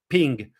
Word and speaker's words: PNG: PNG you're supposed to be officially say call it ping but yeah uh look it's a PNG so uh I mean you P PNG it's like GIF and GIF you know you have two pronunciation yeah just for a remark you know PNG or ping so basically most PNG